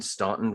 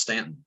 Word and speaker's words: Staunton: a guidance counselor at grace christian school in staunton virginia george thank you very much for joining